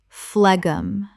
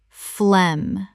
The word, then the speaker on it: phlegm: Phlegum. Correct pronunciation. Phlegm. The g h is completely silent. This is just one syllable. Example.